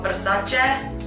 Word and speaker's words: Versace: So next up, we actually have Emily Ratajowski, and she is wearing old school Versace. By the way, that is actually how you pronounce it.